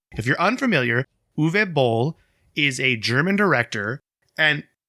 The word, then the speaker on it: Uwe Boll: this name according to a youtube video it's uve bol it's spelled u w e o if you're unfamiliar uve bowl is a german director and pretty interesting guy